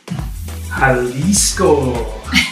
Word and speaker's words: Jalisco: jalisco is that how you say it yeah that's how you